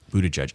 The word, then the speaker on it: Buttigieg: I think when you've got names like Dan Forrestal and Christina Hale and Pete Buttigieg, is that how you say it? Buttigieg.